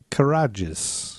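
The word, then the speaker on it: Karadjis: writer named steven carr karajes courageous how do you spell it k-a-r-a-d-j-i-s courageous that's what i said steven courageous and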